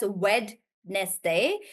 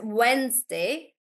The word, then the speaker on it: Wednesday: I'm not really sure because it's not actually pronounced as wedness day it's pronounced as Wednesday Wednesday so this should be